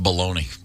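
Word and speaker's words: bologna: finally on the list baloney or you prefer balona balagna balagna how do you spell that b o l o GNA b o l o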